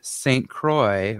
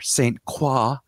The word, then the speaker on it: Saint Croix: cousin who actually lives all the way in saint croix or saint quoi i think it's saint croix let's face it